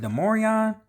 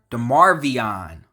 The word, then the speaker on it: Demarvion: Is it Demarion? Demarvion Overshown. I've been saying it wrong this whole time.